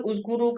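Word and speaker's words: اُذْكُرُوا: Izkuru ke, uzkuru ke, azkuru ke, macam mana bacanya? Betul-betul. Uskuru. Uzkuru, cara baca dia, kita tengok ni.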